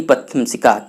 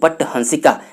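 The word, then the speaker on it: पटहंसिका: विकल्प को पहचानना है मैंने आप लोगों को ऊपर भी बताया था कि इसका सही उच्चारण जो है कि राग हिंडोला की रागनी पट हंसिका इसका सही उच्चारण है तो आप लोग ध्यान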